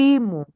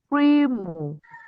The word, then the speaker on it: primo: So, if the word has two syllables, it means the first syllable will be stressed.